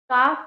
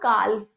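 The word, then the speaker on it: calf: काफ का it's carbs, it's नॉट काल्फ, L is silent over here.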